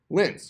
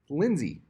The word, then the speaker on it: Linse: Linse. How do you pronounce that? Linz, you'd think, right? No, it's not how it's pronounced. Lindsay. Isn't that weird?